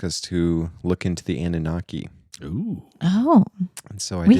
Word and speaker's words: Anunnaki: I do know Anunnaki is how you pronounce it.